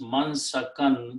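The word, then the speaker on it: منسكا: And whenever we have two fathas, we add an extra alif for writing purpose, don't pronounce. So it becomes mansakan.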